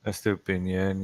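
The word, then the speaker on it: Estupiñán: But replacing him with S2, how do you pronounce his name? S2Pinan. Estupinian, yeah.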